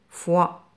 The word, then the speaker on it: foi: F avec le son wa se prononce foi.